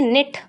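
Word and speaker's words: knit: इसको पढ़ते हैं निट इसलिए इसका के साइलेंट है।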